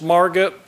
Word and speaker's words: Margit: and it is pronounced Margot like rhymes with target so she's passionate about